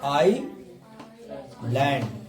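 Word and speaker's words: island: आई है और एल है, आई और एल के बीच में है एस, तो एस को नहीं पढ़ेंगे। तो आई लैंड, आई लेट या आई लेट, आई लेट या आई लेट, ठीक है।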